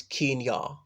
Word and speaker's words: Kenya: navel nasal and unwavering he corrected my pronunciation of Kenya saying it's Keane yah I assumed part of